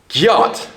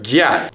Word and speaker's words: gyat: be attractive, and they would interject gyat or gyat. Generally not gayat.